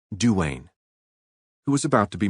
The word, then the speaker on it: Dwayne: She had been closeted all day with Cousin Dwayne, pronounced Duane, who was about to be married.